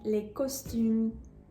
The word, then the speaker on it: costumes: and then I will give you the correct pronunciation. The correct answer is il achète les costumes.